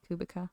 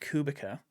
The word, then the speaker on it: Kubica: Kubica. Kubica is I think how you're supposed to pronounce it, but I'm not going to because it's not spelled that way.